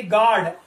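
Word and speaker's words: guard: इस तरह आप देखेंगे नेक्स्ट वर्ड में जी यू ए आर डी गार्ड, guest का मतलब आपको पता है गेस्ट है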